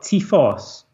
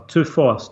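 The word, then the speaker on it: τῦφος: They call it typhos, or tuphos, depending on how you want to pronounce it.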